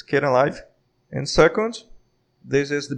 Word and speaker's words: Kdenlive: about skating live first the pronunciation is not kitten live it's kinda live and second this is